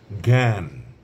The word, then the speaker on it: জ্ঞান: জ্ঞাত তারপরে আছে জ্ঞান জ্ঞান তারপরে আছে আপনার জ্ঞাপন ইত্যাদি কাজেই তিনটি শব্দ আমি এখানে বললাম জ্ঞাত জ্ঞান জ্ঞাপন শব্দের শুরুতে যদি ব্যবহৃত হয় তাহলে গ এর মত উচ্চারণ হয় আর যদি শব্দের মধ্যে